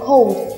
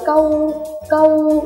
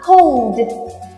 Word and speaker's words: cold: cold very good COD nhớ cho cô là đừng đọc là câu câu Ừ ghê lắm phải là C có âm đ em nhá Rồi thử nào có âm đ bạn nhá Rồi thử lại nào